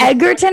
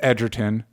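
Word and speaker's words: Egerton: is going to be does that seem like edgarton or edgerton i think it is edgerton because edger because joel joel edgerton is pronounced edgerton so i think that's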